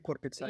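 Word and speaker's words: kurpitsa: So excuse me for pronouncing it. Pizza. Kurpizza Pizza viikko. viikko. Yeah, The week of the pumpkin weeks. actually Korpitsa Yeah, is it's more like squash yeah, in general.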